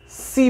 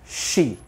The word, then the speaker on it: she: तो यहां सी ना होकर इसकी जो सही प्रोनाउंसिएशन होगी दैट इज शी। अगर आप इसे सी प्रोनाउंस करते हैं तो ये एक गलत प्रोनाउंसिएशन है।